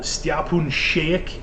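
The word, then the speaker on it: Šejić: and drawing the book spoon shake is how you say his name it's weird he's Croatian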